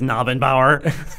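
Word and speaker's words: Knabenbauer: He's going to be like, it's Nabenbauer. The K is silent.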